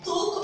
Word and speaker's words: talk: Talk on the phone. Talk on the phone. Letter L is silent and we always use preposition on.